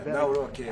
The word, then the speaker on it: Nawrocki: Yeah, Nawrocki.